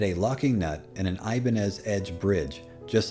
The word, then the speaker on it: Ibanez: ibanez is actually because the company was named after spanish guitar builder salvador ibanez though since it is